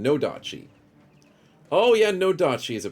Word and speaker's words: Nodachi: Odachi? Did I say it wrong? Nodachi.